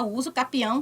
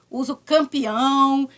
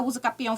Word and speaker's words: usucapião: correta né então gente bora esquecer o termo usa o campeão ninguém é campeão de nada aqui a gente vai buscar